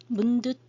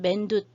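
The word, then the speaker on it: Candi Mendut: 발음이 현지 발음으로 읽느냐 영어식 발음으로 읽느냐 현지 발음 중에서도 인도네시아어 발음을 읽느냐 자바 발음으로 읽느냐에 따라서 발음 조금씩 다르게 들릴 수 있습니다. 그냥 짠디 문둣 문듯 또는 맨듯 이렇게 얘기를 하는데, 짠디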